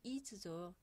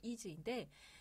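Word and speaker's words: ease: 실제 영어 표현으로는 is죠. E-A-S-E 해서 is인데 우리나라 서양복은 일본을 통해서 들어오다 보니까 의복 용어, 옷을 만드는 용어까지 전부 다 일본식 발음입니다. 그래서 영어인 is가 일본 통해서 들어오다 보니까 이세가 되었고요. 여기에는 원칙은 이런 가슴 다트가 있었을 겁니다.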